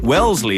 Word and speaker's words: Wellesley: red right come pastries when Shannon gets to Wellesley as it's pronounced she pulls into the intersection and once